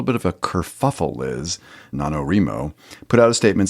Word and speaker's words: NaNoWriMo: We're coming up on it called the NaNoWriMo. Oh, NaNoWriMo. Oh, it's Remo? That's how I've always pronounced it, or heard it. Wouldn't the WRI stand for right? Let's ask somebody that might know. NaNoWriMo.